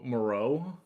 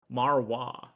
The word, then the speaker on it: Marois: pronounced Jericho Moreau, maybe. First gen user. Um, Wait, no, it is. It is. I got the pronunciation guide. They did the uh the interested prospects. It's Jericho Marwa.